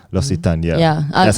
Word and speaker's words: L'Occitane: I mess with L'Occitane. L'Occitane, yeah.